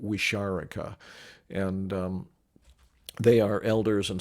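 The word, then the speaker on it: Wixárika: respectful name, is, and I think I'm pronouncing it fairly close to, I don't know if I got it exactly right. I pronounce it Wisharika, and they are elders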